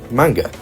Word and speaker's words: manga: Uh, I'll henceforth be pronouncing it like manga, more akin to the sound it would produce in a Japanese context.